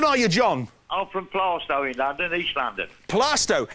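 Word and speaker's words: Plaistow: whereabouts in London are you John I'm from plasto in London East London plasto it's spelled playo isn't it oh playo but it's pronounced plasto who decided that who suddenly said it's plasto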